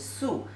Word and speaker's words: 素: I just let you know the pronunciation is 素.